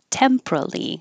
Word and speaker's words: temporally: tempor tempor temporally temporary or three syllables temporally that's the one I would go with you don't have to